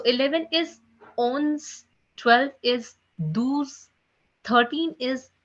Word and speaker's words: douze: 12 is pronounced as douze. Douze.